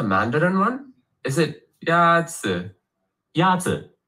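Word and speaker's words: 鸭子: Yatsu is pronounced with a first tone.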